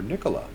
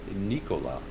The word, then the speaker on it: Nikola: with tritium because they make the Chargers before Nikola or should I say Nikola as the correct pronunciation goes and I know that some of